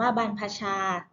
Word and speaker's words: บรรพชา: บันทึก ภาพ บันทึก เสียง บรรทัดชา อ่าน ว่า บรรพชา การ บวช เช่น บรรพชา